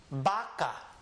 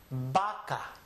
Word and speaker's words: vaca: But it's a soft B sound that this letter usually produces. So most people in this area would call this word vaca. Vaca. Not vaca.